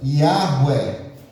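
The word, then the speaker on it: Yahweh: Eles pegaram aqui, ó, o A e o E colocaram aqui no tetragrama. duas vogais eles implementaram aqui no nome de Deus e deu aqui a primeira pronúncia Yahué.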